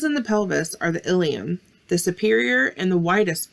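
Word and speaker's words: ileum: female but be careful don't confuse the ilium ilium with the ilium i l e u m meaning part of the digestive system a good way to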